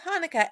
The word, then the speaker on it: Hanukkah: Actually, both Hanukkah and Chanukah are right. The holiday's name is Hebrew, so there are different ways to spell it and say it in English.